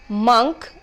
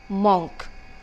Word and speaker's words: monk: or n K and is to be pronounced as monk and not monk all right as many of us do very often now let me tell